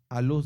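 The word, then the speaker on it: Alús: Aluz, así como suena, Aluz. Con acento en la U.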